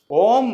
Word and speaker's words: ओम: लेकिन एक्चुअल में उसका उच्चारण होता है ए यू एम ओम तो अ ओ म अकारा ओंकारा मकारा जब